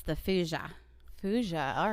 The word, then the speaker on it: thujone: And then wormwood itself contains something called fuja, but it's spelled Thujone.